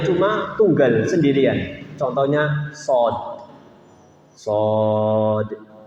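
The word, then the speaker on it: ص: Shad dibacanya sampai 6 ketukan.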